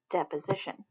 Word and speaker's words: deposition: solid it is called deposition one way to remember this and to help you pronounce it is we know this famous actor Johnny dep dep position deposition so if we switch